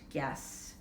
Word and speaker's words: guess: Here's a word that might be new, guess. The U is silent, guess.